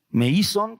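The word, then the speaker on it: μείζων: Meison con acento en la i con z.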